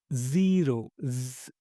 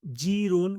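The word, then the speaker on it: zero: First 0 ஸி அந்த Xi sound வருது பார்த்தீங்களா? 0 ஜீரோன்னு வரக்கூடாது. சில பேர் வந்து ஜீரோன்னு சொல்லுவாங்க.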